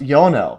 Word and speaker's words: Ionel: So these the parts where there's uh there's very little vibration and uh I I do want to this is actually pronounced Yonell.